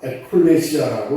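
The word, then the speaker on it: ἐκκλησία: 교회를 헬라 에콜레시아라고 이렇게 발음합니다. 에라는 것은 무엇 무엇으로부터 어디에서부터라는 뜻이 있으며 메시아는 불러내었다.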